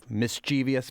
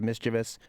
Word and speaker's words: mischievous: to my mind and we're not just adding another syllable we're also changing the accent to syllable of the word right but I I